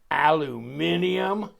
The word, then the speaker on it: aluminium: that was i mean some people have a hard time with with pronouncing this the british especially aluminium excuse me uh but